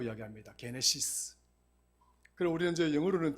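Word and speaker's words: γένεσις: 우리가 창세기를 헬라어에서는 게네시스라고 이야기합니다. 게네시스. 그럼 우리는 이제 영어로는 제너시스라고 이야기하죠. 제너시스라고 이야기하는데 헬라어 원어에는 게네시스라고 발음을 합니다.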